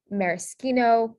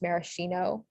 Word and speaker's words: maraschino: sound this is so sk in italian it's spelled with an sch um so examples are maraschino this can also be pronounced maraschino um but for this